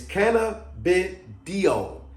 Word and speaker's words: cannabidiol: I got it written right here because most people can't pronounce it. It's cannabidiol. Cannabidiol.